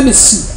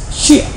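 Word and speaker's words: משיח: Não é Messias, Mashiach. Eles pronunciam errado. É Mashiach.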